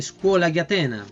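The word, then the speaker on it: Scuola di Atene: La Scuola di Atena, así lo pronunciaban los italianos, ¿ya?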